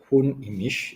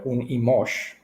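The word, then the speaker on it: Hun Imix: was also one Imish or Hun Imish is the right way to say it in Mayan language, or Hun Imosh.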